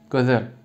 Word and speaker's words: Gözel: G, Ö, Z, E, L yazılır ama söylerken gözel. Yani dudak uyumu oluyor.